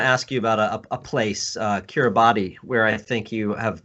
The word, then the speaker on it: Kiribati: So the island of Kiribati is how they pronounce it there Ah, in Kiribati.